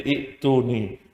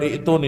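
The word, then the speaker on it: ائتوني: Ketika dia 2 jadi 1, dihapuskan huruf ya-nya, maka berubah menjadi i'tuni. Nah pertanyaan berikutnya adalah kenapa? Kalau kita mulai dari kata i'tuni, bacanya adalah bukan i'tuni tapi ituni.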